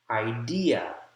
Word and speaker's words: idea: First syllable has primary stress. Idea, idea, idea, idea.